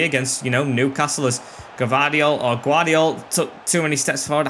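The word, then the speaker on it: Gvardiol: I hate when I pronounce names wrong and I have to try and correct myself when I learn the real name. It's so hard to remember. I'm just used to saying Gavardiol.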